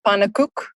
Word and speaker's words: pannenkoek: My favorite is still my granny's pannenkoek, which in Afrikaans means pancake, obviously.